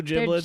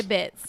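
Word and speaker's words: Jibbitz: I think they're pronounced. I don't really do giblets. They're gibbets. Oh, gibbets.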